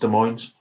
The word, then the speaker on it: Des Moines: Des Moines is pronounced Des Moines.